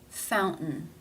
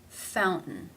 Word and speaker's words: fountain: word in this word it is followed by a schwa and an n sound therefore it is pronounced as a stop fountain fountain how do you pronounce